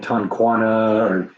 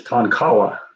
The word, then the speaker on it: Tonkawa: I go back and I was pronouncing it Tonquana or something like that, and it's like, wait, I'm reading it here, and it's like, no, that's not how it's pronounced. It's Tonkawa.